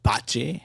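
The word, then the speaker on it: Bachie: And uh is this uh Joe Botchi? Is that how we pronounce this here? Botchi.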